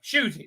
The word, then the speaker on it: Ncuti: is that sh now nc is sh now i i understand i understand but okay okay shooting shooty that's how you pronounce